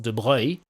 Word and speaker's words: de Broglie: In English, he's typically called de Broglie or de Broglie. It's a French name, and it's actually pronounced de Broglie. But actually, it's originally an Italian name, which I believe in Italian will be pronounced something like de Broglie. Either way, he pronounced it de Broglie, and he tells us